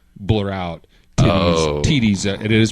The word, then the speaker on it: TiTi: Well, now in this clip, they blurred out her phone number, but when originally aired, they accidentally did not blur out TiTi's. It is pronounced TiTi, which is an African word meaning flower.